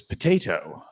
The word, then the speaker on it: PTTH: Uh so we have one bot buff in the wit area this week which is potato. Uh it's spelled PTTH uh and is about reverse HTTP.